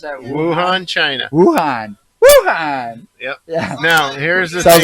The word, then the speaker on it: Wuhan: this article was brought out yeah thean China Wuhan China is that how you pronounce that Wuhan China Wuhan Wuhan yep now here's the thing like who okay